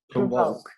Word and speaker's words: provoke: Provoke. Yeah, the stress goes in voke.